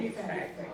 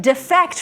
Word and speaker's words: defect: And then you can defect from your country, right? Defect and defect. So again, you're changing the emphasis from the first syllable to the second syllable.